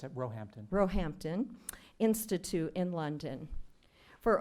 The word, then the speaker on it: Roehampton: in computer science at Stanford University and a diploma in calligraphy and bookbinding from the Roehampton, is that how you say it, David? It's at Roehampton.